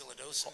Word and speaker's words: silodosin: I have an enlarged prostate, and what happened is I tried, I think it's pronounced silodosin.